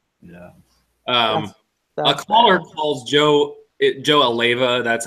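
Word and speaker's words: Alleva: A caller calls Joe Aleva. That's how you pronounce the AD's name, right?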